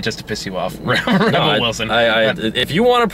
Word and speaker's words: Rebel Wilson: I said that just to piss you off Rebel Wilson I if you want to pronounce Rebel spelled clearly Rebel Reba like Reba